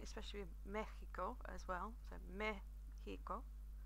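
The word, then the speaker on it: México: Mexico is pronounced Mexico, which doesn't really follow the rules that I taught you last week, I must admit. But Mexico is more commonly pronounced. You can say Mexico, but to be honest, Mexico is a little bit more accurate and is more widely used.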